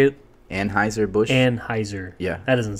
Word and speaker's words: Anheuser-Busch: Anheuser-Busch. Yeah. That doesn't sound right. That's right. My dad's drank all my life. Trust me. That's right. I mean, that's what I started on was Budweiser, It's Anheuser/Busch.